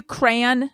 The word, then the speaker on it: crayon: are you crayon as well? Just one syllable? Crayon. Like cranberry. Yeah.